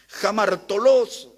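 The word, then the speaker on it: ἁμαρτωλός: Jamartolos, como se pronuncia, es un término relacionado con un ladrón.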